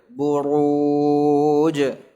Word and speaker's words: البروج: البروج والسماء ذات البروج ra'nya tebal buruj بروج baknya tipis bu ra'nya tebal ru buru ya gitu was-samaa'i dzatil buruj والسماء ذات البروج itu biasa bacanya buru ya beda buru dengan buru ya jadi ra dhammah itu tebal sekali lagi was-sama والسماء ذات